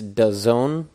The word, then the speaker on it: DAZN: If you pronounce it differently, the way I like to pronounce it is DAZN. That's how I think it's supposed to be pronounced, but I've heard So I'm just DAZN.